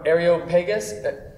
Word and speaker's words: Areopagus: Kelly Clemson from Areopagus. Pronounce, yes. Areopagus Project. There we go. That's right. Project. It's Greek, Project. so yes. It could be Greek.